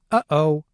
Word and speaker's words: uh-oh: One of these is the word uh-oh. Try saying this word and notice how there's a brief silence between the two syllables.